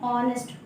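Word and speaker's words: honest: इसको हम लोग पढ़ते हैं ऑनेस्ट, ओ से स्टार्ट होता है, ऑनेस्ट नहीं, एच जो है साइलेंट रहता है, तो यहाँ पे क्या यूज होगा?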